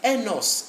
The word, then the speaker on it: os: This is enos, a bone. Enos. You hear S. When there are many, we simply say des os.